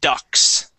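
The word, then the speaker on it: ducts: here these metal pieces these are called ducks okay kind of like a quack-quack okay pronounced exactly the same but spelled differently okay Ducks all right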